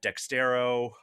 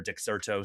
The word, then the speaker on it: Dexerto: Um, but you know, he was at Dextero, um, or Dexerto. Sorry, I always mispronounced that.